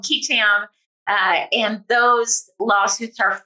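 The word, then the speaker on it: qui tam: are called ketam lawsuits different parts of the country will actually pronounce that differently it's two Latin words so you might have heard of quam or kitam in any event uh here we call them kitam uh and those lawsuits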